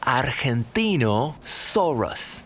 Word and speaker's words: Argentinosaurus: Hello, I'm the Argentinosaurus. That's Argentinosaurus.